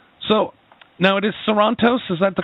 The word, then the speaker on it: Sorantos: It is Sorrentos. Yeah. Do you add a little more flavor, though, on the end? Sorrentos. No, not really. I mean, I've heard it pronounced a couple different ways where people add flavor to it, but I'm okay with either way. Because serrontos don't work, though.